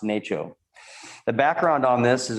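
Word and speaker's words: NACCHO: city health officials and that's pronounced nato the background on this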